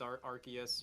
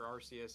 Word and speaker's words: Arceus: shield diamond and pearl or something from legends arceus or arceus however you want to pronounce it um like i i feel like